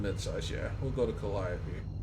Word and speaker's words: Calliope: We'll go to Calliope. And I only know how to pronounce that because Felicia Day, the actress, named her daughter Calliope.